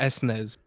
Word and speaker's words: SNES: yes and he asks I swear I've heard Americans call it the s Nez yes maybe I'm maybe